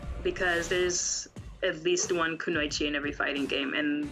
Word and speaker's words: Kunoichi: I saw you're a part of the Kunoichi team, if I pronounce it right. Kunoichi? Yeah, Kunoichi.